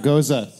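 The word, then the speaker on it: Gose: flavors hey dave what do we say about goza it goes in the toilet that's right it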